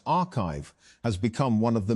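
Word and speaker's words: arXiv: Although papers are posted to the site before they are peer-reviewed, Orgsiv, pronounced archive, has become one of the main ways that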